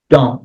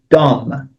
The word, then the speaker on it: dumb: dump don't dump your garbage on my porch dump as in come kind of bringing your garbage